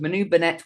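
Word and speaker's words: Manu Bennett: favorite spin-off never started the second season the pronunciation of Manu benette was correct thank you JK that's put my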